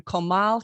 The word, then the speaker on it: Comal: of their forever home on five acres in comal county did i pronounce that right milan yes come on okay